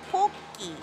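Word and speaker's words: Pocky: I know friends say pokey, but in Japanese, O is pronounced, you know, O. A, I, U, E, O, pokey.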